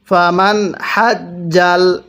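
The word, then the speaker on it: فمن حج: এরপরে ফামান হাজ্জাল, এখানে নুন সাকিনটা আমি স্পষ্ট করে পড়ছি, কারণ এই নুন সাকিনের পরে হাটি হলো ইজহারে হরফ।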